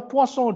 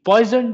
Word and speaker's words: Poisson: similarly i have the poisson distribution now many people have the habit of calling it the poison distribution but the the actual pronunciation is poisson so at the poisson